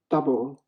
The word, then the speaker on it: Dubbo: Dubo. D-U-B-B-D-O-B-B-O. Yeah, it is called double. So you are pronouncing quite right.